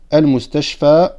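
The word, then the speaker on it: المستشفى: Normalement, on devrait dire al-mustashfa ou, mais c'est trop difficile à prononcer. C'est pour ça qu'on le sous-entend et qu'on ne le prononce pas sur la alif al-maqsoura.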